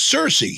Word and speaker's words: Cersei: question is it i've always sort of said circe is it it's cersei seriously cersei i say